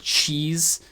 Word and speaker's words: cheese: Cheese salada, né? Só que a pronúncia correta é cheese.